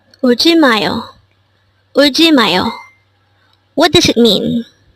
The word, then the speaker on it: 울지마요: This is pronounced as a four-syllable word. The first syllable is ul, second syllable is ji, third syllable is ma, and fourth syllable is yo. Pronounce it with me. 울지마요.